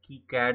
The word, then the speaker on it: KiCad: copper plane in kicad I have been starting it something like I care in earlier videos then I learned that it's kicad is the right way to pronounce it so in the process